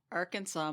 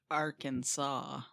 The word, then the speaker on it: Arkansas: Oh, Arkansas must be pronounced Arkansas.